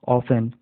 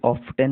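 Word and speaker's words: often: बट B yeti but ऑफ एन ओ एफ टी एन ऑफ एन देखिए इसको ऑफ टन नहीं बोलते हैं ऑफ एन बोलते टी यहां पर साइलेंट है ठीक है यू आर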